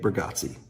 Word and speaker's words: Bargatze: Nate Bargatze.